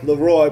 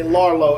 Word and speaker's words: LAROI: This kid's name wrong. The kid Leroy. Bro, I used to say Larlo.